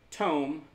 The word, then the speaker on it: tome: I don't know okay tome rhymes with home Raider that's how my